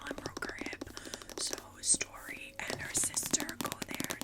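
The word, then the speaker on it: Storee: who names their kute story and it's spelled weird too s t o r e e okay so anyway story okay story um goes back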